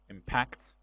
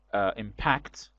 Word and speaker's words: impact: pattern is different only impact stress is on second syllable impact is the verb but the noun is impact impact with the stress on first syllable impact and adjective is